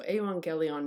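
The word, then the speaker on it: εὐαγγέλιον: gamma gamma is pronounced when two gammas come together it's pronounced as if the first one is an n and so you pronounce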